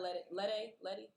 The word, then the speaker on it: Lede: Kiana Letty, is that how am I saying it right? The day, yeah. Lede.